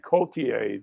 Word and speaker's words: Cotillard: I screwed Just up think Marion Cotillard this morning. Is it Cotillard or I said Cotillard? yeah, it's Cotillard. Yeah. Oh, Cotillard, but I think I said lard.